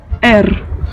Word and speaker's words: Р: Donc vous avez entendu un R roulé un peu à l'espagnol. Petite particularité, il s'écrit comme notre P. Donc ça fait partie de ces lettres comme ça qui ont la même graphie que nous, mais pas la même sonorité.